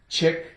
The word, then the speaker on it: chick: Ick, chick, chicken, chicken. I think most people like chicken. They like to eat chicken. Okay, the C is silent, so we have the I, I, the K, k, chick, ick, chicken.